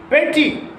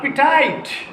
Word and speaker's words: petite: Petty, P-T-I-T-E, not petite, petty. T-E is not pronounced.